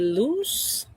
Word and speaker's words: loose: A loose. How do you pronounce that? S no yung sound sa dulo.